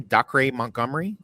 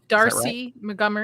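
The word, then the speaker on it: Dacre Montgomery: Doc Montgomery. Darcy Montgomery.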